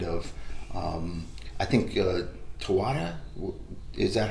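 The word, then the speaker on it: Taweret: this other kind of um i think uh tawada is that how you say her name you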